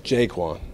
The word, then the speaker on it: Jaquan: over the last couple It's Jaquan. Just If our VCU people can't say it right, then we can't expect, you know.